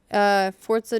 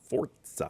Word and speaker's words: Forza: So, yeah, that's why it's pronounced with a T. But that actually comes up Forza.